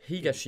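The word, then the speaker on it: 東: Higashi. Et du coup, je prononce ça higashi. Higashi.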